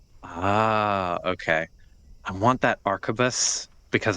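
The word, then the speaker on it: arquebus: I like it, but I don't know how to pronounce it. Arbus. Arubus. Um the archabus. Yes, that is correct.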